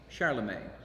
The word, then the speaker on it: Charlemagne: Pronounce Charlemagne in French, Charlemagne.